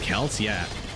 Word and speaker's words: Celts: this to be honest the Celts are actually pronounced calcia which is weird because the Boston Celtics are pronounced Boston Celtics but the team here